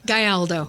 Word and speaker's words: Gayaldo: Gayaldo. Gayaldo. I even Come tried on. spelling it out phonetically, and I did it wrong.